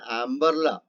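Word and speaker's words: umbrella: അതേപോലെ തന്നെ അംബർല എന്നുള്ള വാക്കിലും നമ്മൾ യു അല്ല ഉച്ചരിക്കുന്നത്, മറിച്ച് ആ എന്ന വാക്കാണ്.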